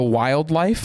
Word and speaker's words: WLDLFE: Those songs, listen to a song called Heaven is a Place by The Wildlife, and it's spelled WLDLFE.